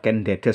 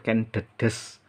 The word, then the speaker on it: Ken Dedes: Jadi menggunakan huruf da dan E-nya pepet. Jadi bacanya Ken Dedes bukan Ken Dedes ya. Selama ini kaprah banyak yang keliru mengucap Ken Dedes, padahal yang benar Ken Dedes.